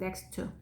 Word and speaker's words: next to: next to 아니고요. t 두 번 겹치니까 한 번만 발음 next to.